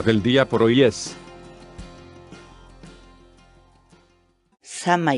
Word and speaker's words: samay: de vídeos en la que te enseñamos a pronunciar algunas palabras en quechua así que nuestra palabra del día por hoy es shamah y shamah y shamah la palabra quechua sana